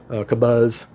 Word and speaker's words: Kobuz: I've rattled off enough about the Kabuzz Kabuzz. I know the buzz part's pronounced like a BB buzz, but uh beautiful plane.